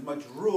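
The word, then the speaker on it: مجرور: the dal is because no, let's say it correctly. The reason why it is majroor.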